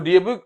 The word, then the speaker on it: DOB: तो DOB stand किसके लिए करता है, date of birth. Next is हम इसको डोब नहीं पढ़ सकते because it is abbreviated word. Yes, इट is pronounce letter by letter.